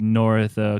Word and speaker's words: North: I think the only thing I think I remember is Joe Morin, howdy from the Great White North, comments. No, you said North wrong. It's Nort.